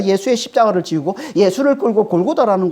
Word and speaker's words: 골고다: 말이죠 골고다이 해골이라 뜻입니다 원래는이 골고다 아람어 아람어는 갈타 말이에요 갈 이 갈타 헬라 음역이 골고다에 어 원래 발음은 구갈데 헬라어로 의역할 때 이게 골고다 이렇게 되는 거고 이걸 라틴어 하면 이게